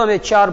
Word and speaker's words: amateur: इसे बच्चों अमेच्योर पढ़ते हैं, अमेच्योर या अमेट्योर, है ना, पर अमेट्योर सही नहीं, अमेच्योर ज्यादा सही है।